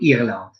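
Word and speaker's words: Irlande: Ireland.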